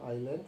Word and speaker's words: island: Itu tulisnya island, bacanya island. S-nya tidak tersebut.